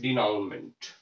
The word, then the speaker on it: denouement: इसके बाद अगर कोई कॉमेडी है तो उसका जो एंड होता है उसको हम कहते हैं डिनाउमेंट। एक तो इसकी स्पेलिंग पे ध्यान दे लेना है, स्पेलिंग भी इसकी पूछी गई है, DENOUEMENT।